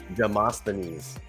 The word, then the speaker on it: Demosthenes: Demosthenes.